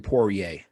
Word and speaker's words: Poirier: Dustin Poirier. Poirier, because he's French.